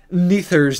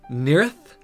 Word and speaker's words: Nearth: stuff, I also realized, I was mispronouncing Neither's name. It's really more like Nearth, which is much more of an attractive name.